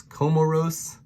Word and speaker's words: Comoros: little guy here is comoros i think of like camaro with spelled with a o instead of an a and then seychelles is